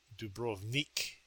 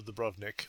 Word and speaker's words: Dubrovnik: Arriving in Dubrovnik, which I gather the Croatians pronounce as Dubrovnik, but I'll stay with my traditional Dubrovnik.